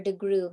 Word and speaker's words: DeGruy: Joy DeGruy, or DeGruy is the way that she pronounces her last name.